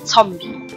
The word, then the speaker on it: Zombie: the same word but you just pronounce it differently since there's a Z at the beginning which is a set in German you just say zombie so you know like